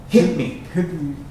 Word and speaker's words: hit me: I'm not pronouncing that T. That T, when you say it fast, hit me, doesn't sound. I'm not saying hit me, I'm saying hit me, because I'm putting it all together.